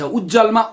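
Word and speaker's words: उज्ज्वल: उज्जवलमा उत ज्वल, उज्जवल उत्को त पनि ज भएर दुईटा ज लेख्नुपर्छ। उच्चारण चाहिँ प्रज्वलमा पनि ज दुईटै गरिन्छ र उज्जवलमा पनि ज दुईटै गरिन्छ।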